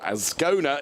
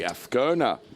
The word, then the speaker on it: Azcona: But in fairness, you put me right with regards to a racing driver called Michael Azcona. It's actually Azcona.